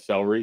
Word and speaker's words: celery: So I didn't know it was 3 syllables until I was almost 40. You just said celery.